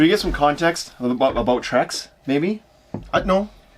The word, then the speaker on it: Trex: So if you've heard of one, it's probably Trex. It's not pronounced T-Rex.